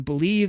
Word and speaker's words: BLEAV: You can catch me on Believe, that's spelled BLEAV in Lions, on Thursday mornings with Benny Blades.